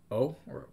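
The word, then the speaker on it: を: pronounced usually just like oh oh man i don't even know if i can say this right yeah you sort of don't say the w you just say like oh um or it's a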